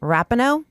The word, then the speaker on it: Rapinoe: I'm squarely straight, but Megan Rapinoe, that's how you say it, she's just flat out hot.